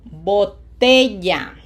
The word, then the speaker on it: botella: mesa Ends in a vowel, syllable number two. botella botella Repeat the words with me.